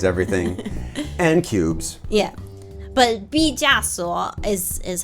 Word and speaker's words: 毕加索: But 毕加索 is how you say it.